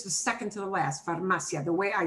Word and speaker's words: farmacia: No lleva tilde, it does not need an accent mark. We punch this more, that is correct. It ends in an A, and the second from last syllable goes back here to this ma syllable, okay?